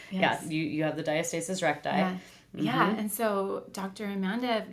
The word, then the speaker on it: diastasis recti: I thought oh my gosh I have that diastasis recti that's how you say it right that's how